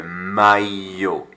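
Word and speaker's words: maillot: word here my yo look at the double l sound it's not that like in welsh it's not a but it's like a it's not even an l sound it's a y sort of sound foot now what could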